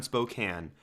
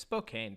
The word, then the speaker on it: Spokane: like a castle OD I'm going to correct you there you're saying it wrong it's Spokane fry that's you're not there anymore you don't have to say it the wrong way thank God Spokan Spokan